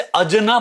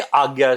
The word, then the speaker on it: आज्ञा: इसे अजना प्रोनाउंसिएट करते हैं, बट ये आज्ञा चक्र होता है।